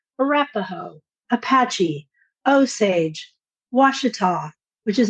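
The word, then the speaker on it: Ouachita: weather person because they will always call it Uachita. It's Washita.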